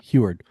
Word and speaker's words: Huard: I've read it, but I don't know how to pronounce it. Heward? Huard? Yeah. Okay, Heward.